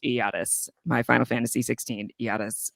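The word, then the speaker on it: Ayatus: yes as Rand in the chat says it's pronounced iotus my final fantasy 16 yatas from Final Fantasy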